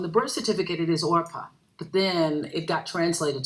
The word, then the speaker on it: Orpah: on january 29th 1954 old 4 was named Orpah which is on her birth certificate believer not